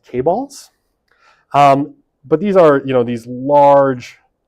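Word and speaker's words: chaebol: I think it's pronounced K-balls.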